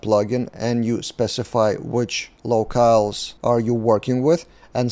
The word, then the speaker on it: locales: and you specify which locals are you working with and side note just today I found out that for years I've been mispronouncing the word locales it should be locals so yeah as a